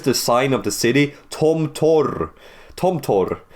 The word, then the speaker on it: Tomtor: Tomto. Tom. Because the P in Russian is pronounced R, by the way.